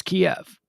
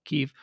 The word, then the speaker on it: Kyiv: international airport that serves kiev this is where all of the uh commercial passengers if you are ever to travel kiev kiev keep forgetting how to pronounce it properly keef uh if you were